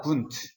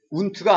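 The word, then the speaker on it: Wundt: 분투. 운트가 아니야. 이건 독일어로 W는 분트라고 읽어.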